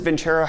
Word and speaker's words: Vincero: After I tell you about today's video sponsor, Vincero watches. Hey friends, Future Brett here. You know what one can learn in a shirt change? Vincero, not Vincero. My dumb American brain likes to pronounce things incorrectly, but let's talk about